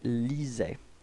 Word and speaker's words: lisait: So remember what I said, you know, even if we've got so many letters, we don't pronounce them after A-I. Okay, lisait.